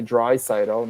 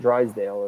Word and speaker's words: Draisaitl: And Zylstra says the only way Draisaitl, not Drysdale as it's spelled, is if his new extension comes under 14 per.